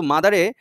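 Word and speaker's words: mother: দ এর উচ্চারণ চলে আসে এটা বলছে এই বানানটা একই রকম হলেও এটা কিন্তু মাদারে যে আবার মাথার হবে না ঠিক আছে তখন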